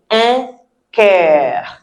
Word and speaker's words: cœur: If you cannot say it the way I say it, you can say un cœur, like I care for you. Un cœur, we will still accept it.